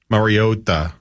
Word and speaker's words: Mariota: all introduce themselves and the way he said marota marota marota it was and then Hawaiian pronunciation then yeah Collinssworth